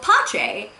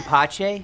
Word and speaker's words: Pizza: The second half of the season, however, we get a character called Pache, which is spelled pizza. And, So, yeah, I'm Pache, spelled exactly how it sounds, P-I-Z-Z-A.